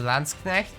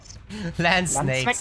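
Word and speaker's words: Landsknecht: gets to learn that you pronounce some landsconnect and not whatever that the hell the English speaking streamers do so land snakes I know oh my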